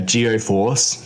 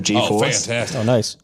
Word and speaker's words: GeForce: and he was talking about the uh geo force instead of geforce oh that's a good